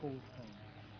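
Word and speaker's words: kolgans: In Afrikaans is called a kolgaan, which is spot goose. Ah, I know that's where the Afrikaans name came from, but I didn't know what it was. How do you say it again? Kolgaan. Kolhan.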